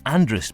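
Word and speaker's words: Andreas: In the north, Andrea is still being pronounced Andrus by those who want to sound Manx, even if they aren't, but not by anyone else.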